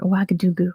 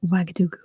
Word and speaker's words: Ouagadougou: Ouagadougou is the capital. That's how it's said. Yeah, it was based on an old empire called Ouagadou. And just over time, it's become Ouagadougou.